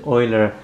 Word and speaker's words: Euler: this name here the Swiss mathematician's name is pronounced as Euler we are looking here at a complex number